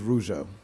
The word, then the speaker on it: Rougeau: It's Ardoin versus Rougeau.